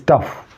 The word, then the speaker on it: tough: So first, tough, T-O-U-G-S, tough. F is pronounced.